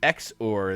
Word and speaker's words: XOR: hell is uh oh I've been told that xor is the preferred pronunciation all right whatever so